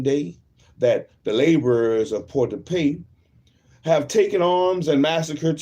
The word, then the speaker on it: Port-de-Paix: How you pronounce that? P-A-I-X. P. Port-de-Paix. That was correct.